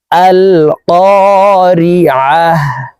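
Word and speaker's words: القارعة: আল কারিয়া আল কারিয়া আল কারিয়া মাল আইন হরফকে হলকের মধ্যখান থেকে উচ্চারণ করতে হবে কারণ আইনের মাখরাজ হালকের মধ্যখান থেকে হবে আইন জবর মাল মলতা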